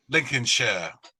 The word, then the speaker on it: Lincolnshire: Rings the shires but when you see something like Hampshire you pronounce it sure okay I'm sure Lincolnshire Yorkshire and it's the